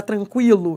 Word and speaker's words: tranquilo: O Q com U formam dígrafo, que você não pronuncia o U. Você entendeu a diferença de aquilo para tranquilo? Você entendeu? Esse U é pronunciado, ele é uma semivogal. Mas esse U aqui não é pronunciado, ele forma um dígrafo.